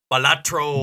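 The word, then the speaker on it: Balatro: that's insane okay and it's called what again batro batro okay you have to say it like that when you're talking about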